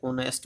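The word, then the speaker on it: honest: अब आप यहाँ देखेंगे कि लेटर चाहे ओनेस्ट में था, आवर में था, पहला लेटर तो एच है, मगर जब इस वर्ड को बोला जाता है तो साउंड एच तो साइलेंट हो जाता है।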